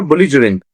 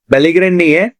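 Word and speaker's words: belligerent: देखो इसका नाम है बुलिजरेंट, बेलीग्रेंट नहीं है, बुलिजरेंट है।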